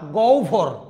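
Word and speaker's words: গহ্বর: আহবান না আভ আভা গহবর না গভর জিহবা না জিউভা আশা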